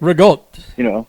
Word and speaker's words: ricotta: Well, we call it because how it's spelled and looks is not how you say it. So when I say it, some people are like, "What are you saying?" Rigotte, right? Right. So yeah. So people always say ricotta. You're reading it like it's spelled.